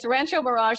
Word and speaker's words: Rancho Mirage: I feel like I might have not pronounced it correctly. It's Rancho Mirage, California.